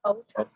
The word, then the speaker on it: Otaku: Otaku.